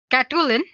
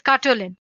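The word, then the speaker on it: Katoolin: So guys, we'll be using a tool called Katulin. Let me spell it for you guys. It's Katwolin.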